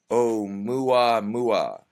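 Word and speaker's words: ʻOumuamua: able to pronounce this o u m UA M UA oh mua mua and the numerous social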